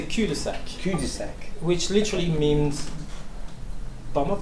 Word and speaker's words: cul-de-sac: should you say it so you should say cudasec which literally means bomb